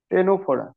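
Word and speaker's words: Ctenophora: 3 নম্বর রয়েছে টেনোফোরা, স্যার সি আবার কিংডমটাকেই silent রয়েছে।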